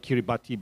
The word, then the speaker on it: Kiribati: and now in fact Kiribati, spelled Kiribati but pronounced it Kiribati, is a phenomenon that is, I think, reflected in your general observation of decline.